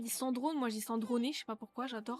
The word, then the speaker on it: Sandrone: Alors, je crois que t'as la bonne prononciation. Sandroné? Let's go. Pour une fois que j'ai un truc bien, let's go. Après, je pense, ouais, parce que si on se fie à l'anglaise, ils doivent dire Sandrone, tu vois, donc peut-être, ouais.